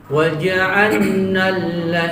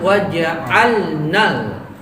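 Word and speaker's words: وَجَعَلْنَا: Kebanyakan orang melebur jadinya. Jadi bacanya waja'annal gitu. Waja'annal ya. Harusnya waja'alnal. Nah, lamnya jadi dua, gitu ya.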